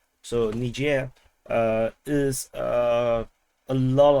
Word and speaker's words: Niger: previously I call it Nigel uh so apparently the correct pronunciation is actually more Frenchy is Niger so Niger uh is uh a